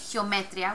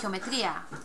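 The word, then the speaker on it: geometría: a sound which normally comes across as just one sound geometria okay so it's we don't say geometria we say geometria on again we're breaking the the rule so we would want an accent mark over the I next Ro we have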